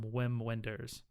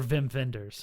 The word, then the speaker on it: Wim Wenders: is Paris Texas from Wim Wenders nice or vim vendors I don't know say it is any German yeah ven vendors das probably be more appropriate pronunciation and a funny story